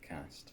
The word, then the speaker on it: Cast: And that's pronounced Cast. Cast. Cast like Cast bath.